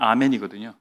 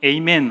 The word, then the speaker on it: 아멘: 말이 훨씬 히브리어에 가까워요 히브리어는 아멘이 영어는 에이멘 하잖아요 우리가 훨씬 낫습니다 우리 표현이 아멘이 더 정확한 발음이에요 세 번째 몸을 굽혀서